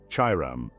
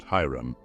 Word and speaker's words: Chiram: These three constitute the universal agent, or fire of nature, in one word, Chiram, not Hiram.